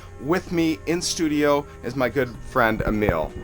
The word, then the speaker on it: Emil: that's how I met Emil. And I'm butchering your name. I know it's E-M-I-L. How do you pronounce it in Sweden? Yeah, in Sweden we would say Emil. Emil. Okay, it sounds like Emil.